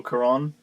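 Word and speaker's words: Cuarón: Gravity, the movie where Gasper Noi was on drugs and really enjoyed Alfonso Kuron.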